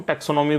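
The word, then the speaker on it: taxonomy: टॉक्सोनोमी मूल रूप से किससे संबंधित है? अगर हम टॉक्सो नहीं है बच्चों, टैक्सो है। ध्यान दीजिएगा थोड़ा सा एक बार उच्चारण पर।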